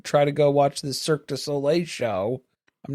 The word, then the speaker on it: Cirque du Soleil: Why did you say it right then? You're trying to throw it in my face. You're the one saying it wrong.